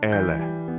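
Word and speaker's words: elle: L, pronounce Ele.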